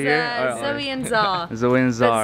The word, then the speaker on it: Czar: Zoe and Czar. Zoe and Czar. Czar is spelled C-Z-A-R, silent C.